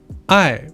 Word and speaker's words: 矮: For example, I means love and I means short.